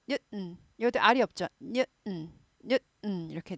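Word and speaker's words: Newton: 뉴턴인데요. 뉴튼 발음 잘 안 하죠. 미국 영어에서는 잘 안 하고 뉴턴 해서 어떻게 돼요? 스타카토 딱 찍죠. 뉴턴. 스타카토 딱 찍으면서 은이 아니라 한다 그랬어요.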